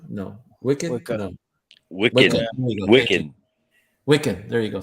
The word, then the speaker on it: Wiccan: Yeah, well, like Wickham. What is it? Wickham? Is I saying it right? Wickham? No. Wicked? Wake up. No. Wiccan.